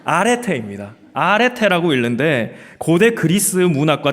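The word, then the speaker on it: ἀρετή: 저 은요 자 읽으시면 뭐라고 읽을까요 아 아 아레테입니다 아라고 읽는데 고대 그리스 문학과 철학에서 기본적인 의미는 탁월함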